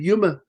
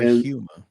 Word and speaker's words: Yuma: They did shoot in Yuma. They shot the film in Yuma. Yuma or Yuma? It's Arizona. I know it's Yuma. It's Y-O-M-A. I know. No, Y-U-M-A.